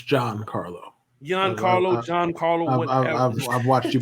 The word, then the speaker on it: Giancarlo: It's John. It's not John because in Spanish, there's no he himself will tell you it's John. What the fuck are you talking about? The case really just actually Giancarlo Stanton. Bro, my man is arguing the pronunciation of another man's name. That's insane. You can say it shouldn't be pronounced John. It shouldn't be because if you read the Spanish alphabet, the G is not pronounced that way.